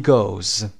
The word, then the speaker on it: goes: و he goes. صدای ز بدید در انتها.